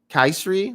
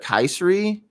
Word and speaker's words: Kysre: Kaisri, like not Kyrie, but Kaisri Gondrezick.